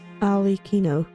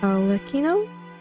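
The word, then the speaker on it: Arlecchino: on defending our homeland alino okay that's how you pronounce the name Al Ino so okayo alino okay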